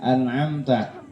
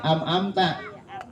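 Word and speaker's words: أنعمت: suka kepletot nih bacaannya pada anamta ya Anta kalau orang tua dulu Bu bacanya kadang-kadang sering amamta ya jadiina amamta ya ya padahal di situ ada huruf nun mati dan mim mati ya anamta anamta tuh Anam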